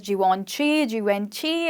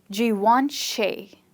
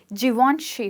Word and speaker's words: Givenchy: So mostly it's pronounced as Givenchy, or something like that. But it's actually pronounced as Givenchy and not she.